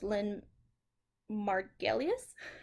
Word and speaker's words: Lynn Margulis: the theory of endosymbiosis was lynn margulis i believe that's how you pronounce her name so she proposed so